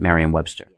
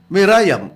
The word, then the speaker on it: Merriam-Webster: Okay, Brother, sa atong nakita, Klaro kay Reb nga ang proper nga pronunciation is Merriam-Webster Dictionary. o nakita nato ang uban Mirayam.